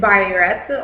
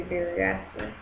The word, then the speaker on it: biuret: The test for proteins is biuret, or some people say biuret, whichever one is.